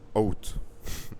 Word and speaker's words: août: C'est la prononciation en français est très bizarre pour moi. Août, août. Je ne peux pas distinguer les, les lettres dans ce mot et c'est, ce n'est pas très confortable pour moi de prononcer ce mot. J'ai l'impression que je le prononce euh, de de la mauvaise manière. Je le prononce pas correctement. Out, c'est ça.